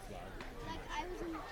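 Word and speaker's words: Pflug: It's spelled P-F-L-U-G. I think you pronounce it Flug.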